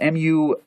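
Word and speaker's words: Munduruku: To give you wings, full body tattoos of the Mundu Rusi warrior with head trophy, and this is from 1810, this information, and it's pronounced Mundurucu, warrior.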